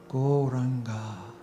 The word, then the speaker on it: Gauranga: Gauranga means the golden Lord of love. This wonderful mantra has 4 syllables. Go, Ra, Anga.